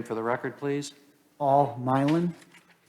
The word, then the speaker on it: Milan: uh state your name for the record please paul milan how do you spell that m-i-l-a-n you can call me milan if you need